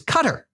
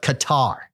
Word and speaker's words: Qatar: country from his dad, says that the proper pronunciation of his country's name is Qatar, but the majority of folks and infidels call it Qatar.